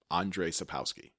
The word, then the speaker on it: Andrzej Sapkowski: Andrzej Sapkowski.